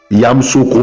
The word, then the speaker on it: Yamoussoukro: Yamsoko prononcé localement familiirement Yagro et la capitale politique